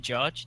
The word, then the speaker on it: Jarge: It's been Jarge. It's like a hard J, because my real name is.